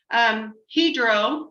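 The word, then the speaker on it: Hydro: he could not come hedro is how it's pronounced hedro extrusion llc they have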